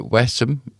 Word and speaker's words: Wesham: Alan Carr from Wesham or Westham is I've been told it's pronounced on the 13th of September.